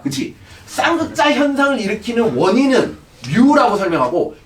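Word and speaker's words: μ: 자, 이 개념의 대표 문자는 뮤입니다. 뮤. 자, 귀엽게 읽으세요. 뮤. 다 같이. 하라고. 자, 그래요. 뮤. 오케이. 뮤입니다. 뮤라고 읽으시면 돼요.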